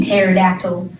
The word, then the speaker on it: pterodactyl: of pterodactyl i mean pterodactyl see it's confusing it's also great without a p in the front i am not a